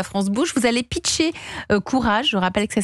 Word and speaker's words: Kurage: C'est comme ça que vous avez fondé Courage avec un un associé, un associé s'appelle Rudy, c'est ça ?